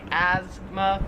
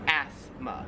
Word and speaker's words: asthma: asthma we kind of say it more like a z sound like asthma where here it's more like a like an s sound like asthma 13 is this plant